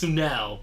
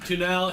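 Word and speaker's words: Tunnell: it right yeah I I just remember him emphasizing the second n yes tunell okay Bob great Stephen on his pronunciation tunell hitchhike to New York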